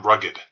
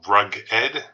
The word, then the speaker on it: Rugged: I'm Rugged. It's pronounced Rug-ed, not rugged, like as in losing all of your money.